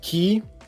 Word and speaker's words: ki: into the key so the third sign is pronounced key key key key just